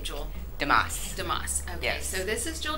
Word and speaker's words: DeMoss: do you say your last name jewel damascus damascus okay so this is joel dumas she is one of the artists here she